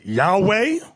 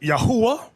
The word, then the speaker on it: Yahweh: not known to them now depending on your form of hebrew you have some people announcing yahweh another group pronounce it yahuwah we were taught yahweh we've never said that